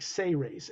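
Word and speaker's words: Sayrays: that s-a-y-r-a-y correct yeah it's like it says but it's pronounced like say rays s-a-y-r-a-y-s yeah because that's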